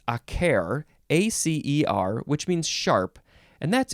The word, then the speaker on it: acer: So acer, I think that's how you pronounce it, is sharp.